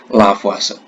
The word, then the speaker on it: Lavoisier: Penulisannya Lavoisier, membacanya Lavoisier.